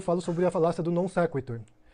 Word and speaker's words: non sequitur: Ele diz que é non sequitur e depois ele fala non sequitur.